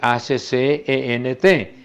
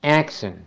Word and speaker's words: accent: Acento se escribe A-C-C-E-N-T. Como sustantivo se pronuncia accent, pero con la misma escritura. Y ya como verbo es accent.